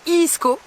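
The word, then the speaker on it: Egeskov: Je peux enfin vous dire où on est parce que j'ai demandé comment ça se prononce. Je ne parle pas couramment danois, vous vous en doutiez. Le nom de ce château, c'est le château de Iisko.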